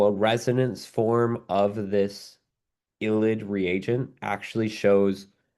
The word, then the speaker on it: ylide: That's yl, ylide.